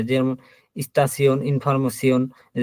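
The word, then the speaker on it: Station: শব্দের শেষে যদি সিয়ন বসে তাহলে পরে এই যে আপনার টে আই ও এন, ওই তখন বললাম সিয়ন, এই সিয়নের মতো উচ্চারণ হবে। যেমন স্টাসিয়ন, ইনফরমেশন, এই যে পসিশন।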